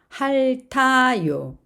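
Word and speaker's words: 핥아요: 할타요. 자, 앞에 있는 리을은 받침이 발음이 되며 티읕은 그 다음으로 이동을 합니다.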